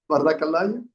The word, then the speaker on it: Vadakalai: Okay, so I pronounced it completely wrong. Say it again. Vadakalai and Tenakalai.